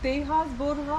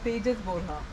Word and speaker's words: Tejas Borja: you pronounce, is it Tejas Borja or Tejas Borja? Well, you can call both. It is Tejas Borja in India Okay. and Tejas Borja in Spanish, because Okay. J is silent in Spanish language.